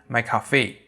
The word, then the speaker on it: McCoffee: string because the pdb string here is mccoffee yeah he pronounced like my coffee and recently we have